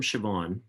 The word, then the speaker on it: Siobhan: Um, so this one is from Siobhan, and her name is not pronounced like it's spelled, and I deserve points for getting that right.